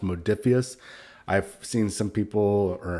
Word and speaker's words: Modiphius: a head honcho for modiphius and it is pronounced modiphius I've seen some people or hurt some people say in videos it's modifis I confirmed from Chris Burch it is modiphius